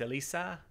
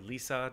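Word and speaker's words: L-ISA: queue for uh acoustics elisa or lisa depending on which side of the atlantic you're on when you were taught how to pronounce that name by an acoustics technician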